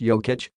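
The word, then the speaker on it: Jokić: is something I admire Jacques ik pronounced yo kitch sees the floor with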